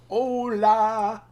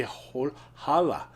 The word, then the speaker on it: hola: Or maybe I should say hola. I think that's where holla came from. Hola. Hola. And people are like, but the H is silent in Spanish. And they're like, no, hola.